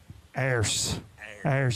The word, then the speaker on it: Ayers: Ayers. You drag it out. I like that. I feel like being from Lawrenceburg, Tennessee, I can say I like that Ayers.